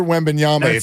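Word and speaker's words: Wembanyama: big the fact that we've learned like Jama Mala Leila right and Victor wendbanyama so you would ask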